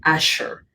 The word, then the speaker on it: Azure: well as microsoft azure right some people say azure and some people say asher some people have different pronunciations but it's azure right so that's who